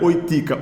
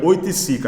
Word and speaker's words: Oiticica: Além de Lígia Clark, é do Hélio Oiticica, faltou uma sílabazinha aí, depois que eu percebi. Não é Oitica, Oiticica.